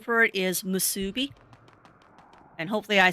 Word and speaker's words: musubi: I always mispronounce the name, but the actual name for it is musubi.